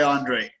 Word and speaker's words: Andriy: Okay. Andriy. Is that how you say it? Yeah, I've been called worst, so it's not bad. Andriy, I go by Andriy. Oh, it's just Andriy.